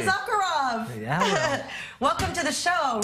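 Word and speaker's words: Issacharoff: writer of Fauda, Avi, I'm going to say Izakharov, because that's how we say in the States, but it's Izakharov. How do you say it? Almost, almost. How do we say it in Hebrew? Izakharov.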